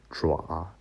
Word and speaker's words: 爪: This part pronounced like 爪.